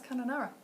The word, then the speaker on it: Kununurra: I know some people have got Kununurra and they didn't know how to pronounce Kununurra. It's Kununurra.